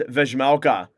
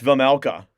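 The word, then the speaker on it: Vejmelka: I used to thought it was Vizmelka, but it's Vizmelka. And now that somebody corrected me, I'm now pronouncing that correctly.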